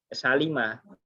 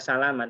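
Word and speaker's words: سَلِمَ: Salima, tidak dibaca salama tapi salima ya.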